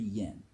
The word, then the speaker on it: yen: Which they don't pronounce the Y. It's N. 10 yen.